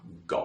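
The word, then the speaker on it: 狗: dog in my kitchen for the pronunciation go now what does that mean in English I just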